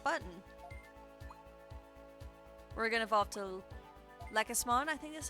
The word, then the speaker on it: Lekismon: We're gonna evolve to Lekismon, I think that's how you pronounce it. Lekismon. I always keep calling it like emphasis on the leek, as in like the vegetable, but it's not.